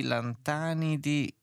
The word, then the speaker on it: lantanidi: preoccupazione Terre di lupi di lantanidi ant anidi e si pronuncia così ho sbagliato si pronuncia esattamente così però mi sfugge in